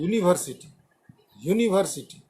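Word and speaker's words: university: यू इज a vowel, you से start हुआ है, वॉवेल है, लेकिन इसका प्रोनाउंसिएशन जो है यूनिवर्सिटी, YU। ये जो प्रोनाउंसिएशन आप देख रहे हो लास्ट में YU से आ रहा है, यू यूनिवर्सिटी, तो इसलिए ये प्रोनाउंसिएशन हो गया कॉन्सोनेंट, इसीलिए इसके पहले ए लगा।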